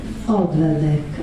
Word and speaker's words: Odradek: Io vorrei fare, prima degli altri, a proposito della mia posizione, una domanda a proposito di Odradek, che si pronuncia così, Odradek, ecco, Odradek non può morire, perché per morire ho capito io che è necessario agire, avere un'attività finalizzata, questo volevo sapere.